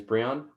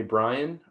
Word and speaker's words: Breon: said i'm the ta my name is breon it rhymes with neon if you call me brian or bryant i will answer to